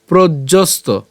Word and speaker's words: প্রজ্ঞস্ত: এরপর বাথমনা আত্মন ইয়ে বাত্মনা তুষ্ট এরপর স্থিত প্রজ্যস্ত স্থিত প্রজ্যস্ত স্থিত প্রজ্যস্ত এখানে আমরা উচ্চারণটা কেমন হচ্ছে প্রজ প রফলা বর্গিয়াজ হসন্ত